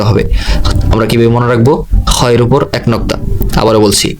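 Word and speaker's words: خ: খয়ের উপর এক নোক্তা। আবারও বলছি, খয়ের উপর এক নোক্তা। উচ্চারণ হবে খ, এক আলিফ টান, লম্বা চড়া কোনো টান নয়, যেমন খ।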